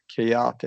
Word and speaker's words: chaotic: So Chaotic.